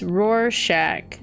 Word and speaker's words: Rorschach: not nutty dread also it's pronounced rorschach okay rorschach i don't